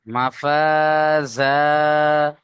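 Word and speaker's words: مفازا: জবর জা মাফাজা এখানে দুটো সব এক আলিফ করে টান হবে না মাফাজা আলিফের ডানদিকে যাবার আলিফ এখানেও আয়াতের শেষে দুজবার এক জবারকে বাদ দিয়ে এক আলিফ টান দিয়ে পড়তে হবে।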